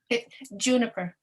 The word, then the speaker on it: Juniper: you pronounce your name because i've had two pronunciations in my head and i'm like i'd much rather ask you juniper juniper okay that was the first my first choice as well um juniper thank you so much for putting all of